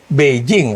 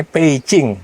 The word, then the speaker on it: Beijing: T itu sebenarnya kayak itu bukan Beijing, harusnya bacanya Peicing. Ya, bukan Peking juga ya.